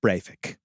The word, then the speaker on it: Breivik: But imagine if there was just one magical afternoon where Michael Jackson could have chosen Anders Breivik. Right? That's how you actually pronounce it.